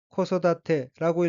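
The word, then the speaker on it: 子育て: 둘째 첫 번째 어인은 한자가 한국어로 자육이고 각히 아들 자 길을 육자이고 일본어는 코소다테라고 읽으며 코소다테는 육가라는 뜻의 명사입니다.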